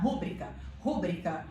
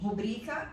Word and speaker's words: rubrica: tão acostumada a escutar rúbrica, e jamais que se alguém falasse pra mim, ai, a rubrica, ou a rubrica, até agora eu não me acostumo com rubrica. Mas, enfim, rubrica é o correto.